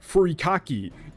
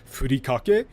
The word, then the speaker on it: furikake: Not a single one. I even saw a thing where, like, it was like some British dudes, and one of them pronounced it wrong, and the other one corrected them and said, actually it's called, furikake.